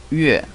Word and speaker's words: 月: In Chinese, the pronunciation is 日. Okay, the second one is the moon. In Chinese, 月, 月.